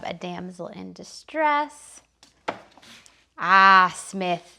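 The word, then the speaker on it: Psmith: damsel in distress ah smith the p of course is silent smith is also right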